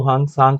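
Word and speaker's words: Hiuen Tsang: और दो तीन क्वेश्चन पूछे जाते हैं यहाँ पर हांग त्सांग से, या इनको हांग सांग कहा जाता है, टी साइलेंट है यहाँ पर।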